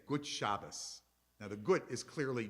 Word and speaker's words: Shabbos: We say Shabbat Shalom, and we say Gut Shabbos. Now the Gut is clearly German or Yiddish, but Shabbos, that's how they would see it in Hebrew. That's not a Yiddish pronunciation, it's the Hebrew pronunciation.